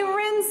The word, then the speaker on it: rinse: We rinse our hands. What letter does rinse start with? Good job. Rin. N. Rinse. And there's a silent E on there.